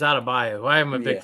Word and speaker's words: Adebayo: Yeah, I mispronounced his name. It's Adebayo.